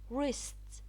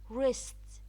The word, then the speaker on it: wrists: the G is silent wrists wrists the W is silent wrinkled wrinkled the W